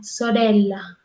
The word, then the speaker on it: sorella: Entonces, por ejemplo, sorella, esta E es diferente a premio.